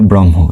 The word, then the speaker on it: ব্রহ্ম: ব্রহ্ম উচ্চারণ হবে ব্রহ্ম এরকম।